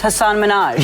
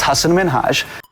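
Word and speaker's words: Hasan Minhaj: Because everyone that says your name says Hassan Minaj. Yeah, but the real way you pronounce it, and this is a big deal cuz my parents are here. It's Hassan Minaj.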